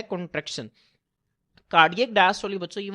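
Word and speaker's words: diastole: एक को हम कहते हैं कार्डियक डायस्टोली। बच्चों ज़हन में रखें जो ज्यादातर ये लफज़ प्रोनाउंस होता है वो डायस्टोल की फॉर्म में होता है।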